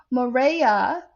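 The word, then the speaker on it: Murraya: biden cautious cautions putin to control cyber criminals maria as it's pronounced m-u-r-r-a-y-a marea spelt earns 14 year-old 50 000 and a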